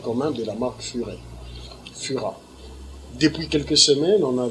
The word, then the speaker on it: Fura: Ici, on le prononce Fura.